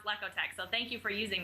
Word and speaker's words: Lekotec: great little slogan to teach people that it's pronounced lekotec so thank you for using that uh no